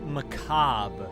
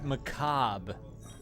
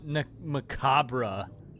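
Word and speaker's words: macabre: character macabra it's pronounced maab she pronounced the r and the E it's maab it's not macabra and they left it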